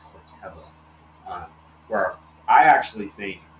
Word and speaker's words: Corteva: I realized I was pronouncing it Cortiva. It's Corteva.